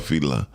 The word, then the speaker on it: Fela: So no, because in his own country it's called Fela. And so in American they spell it fella.